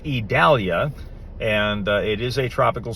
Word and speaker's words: Idalia: storm down near the Yucatan Peninsula it is pronounced Italia and it is a tropical storm it's sort